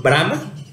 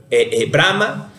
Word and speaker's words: Brahma: los tres principales son brahma este y shiba no de convulsa que con Brahman se pronuncia parecido por la palabra diferente brama es considerado como la